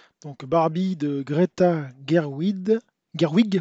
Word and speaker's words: Gerwig: Barbie de Greta gerwid Gerwig je crois que ça prononce comme ça Gerwig Gerwig avec Marco Roby